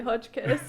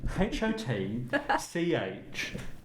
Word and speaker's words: Hotchkiss: So, Hodgkins, how are you this week? No, HOTCHKISS. Not Hodgkiss.